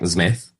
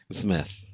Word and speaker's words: Zmith: So you just say it like it looks, like Zmith. Zmith.